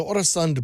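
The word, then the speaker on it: Øresund: In our Great Moments in Building History, pronounce it for me, Allan. The Oresund Bridge.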